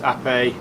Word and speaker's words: Ape: the 2014 piaggio app a reads ape but it's pronounced app a in reference to the italian for b these are originally all